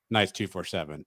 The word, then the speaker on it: Knights 247: Is it Knights 24/7 or 247, or are both acceptable? I didn't want to do this on air, but while we're here, you are actually mispronouncing the website. No, that's fine. That's why I'm asking. You call it Latavius Murray's Knights 247. It's Knights 247 with Latavius Murray.